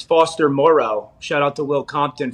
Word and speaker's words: Foster Moreau: for people to pay attention to, and it's Foster Moreau. Shout out to Will Compton for the proper pronunciation of that.